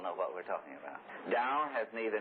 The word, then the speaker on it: Tao: the way, or the Tao. Now, from this day forward, you don't pronounce the T, it's as though with a D, all right?